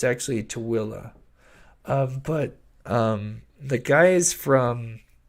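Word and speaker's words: Tooele: heard um everything usually the biggest one is Thule um that's that's probably the most popular way it's pronounced by people that don't know it's actual pronunciation uh is Thule but it's actually too Willa but um the guys from Ghost Adventures uh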